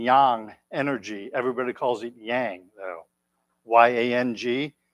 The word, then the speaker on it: yang: energy everybody calls it yang though y-a-n-g it's everybody pronounces that it's yin and yang energy is the way they pronounce it it's actually pronounced yam i do i tell